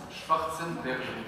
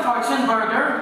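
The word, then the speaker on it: Schwarzenberger: Alors, ça se prononce Schwarzen Berger. Moi, j'ai dit, c'est quoi Fortune Burger? Il dit, non, non, c'est pas ça, c'est pas ça.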